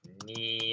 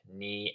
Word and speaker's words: knee: but you will see a silent K if it's before the letter N. But here, kite, there's no N after the K, so it's kite. Kicks. There are a couple other silent K words.